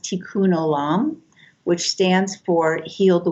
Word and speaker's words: tikkun olam: there's a phrase in hebrew uh that that's pronounced tikkun olam which stands for heal the world and my